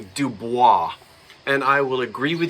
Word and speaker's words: Dubois: I come from South Jersey, and there is a large family of Duboises in South Jersey that don't pronounce it Dubois. They call it Dubois. And if you said Dubois, they'd say, what? So yes, French origin, originally Dubois. But just remember that pronunciations,